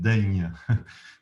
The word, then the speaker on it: Daigne: Yes, it's true that my last name is difficult to pronounce for most other language. It's pronounced Daigne, which is difficult to say.